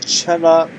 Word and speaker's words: Çalhanoğlu: I don't know what my previous pronunciation is, but it should be pronounced as Chala. It's very hard to pronounce it as Çalhanoğlu because next thing you want to say is N instead of L.